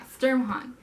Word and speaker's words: Sturmhond: Yeah, Sturmhond.